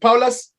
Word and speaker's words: Paulus: pronouncing your surname right paulos is it powerless oh yeah yes yes yes so for the people